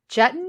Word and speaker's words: Juetten: I am interviewing Nancy jutton as in button that's how she told